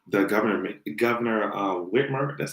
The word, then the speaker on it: Whitmer: to kidnap um the government the governor uh whitmer that's how you pronounce the name to kidnap the goddamn government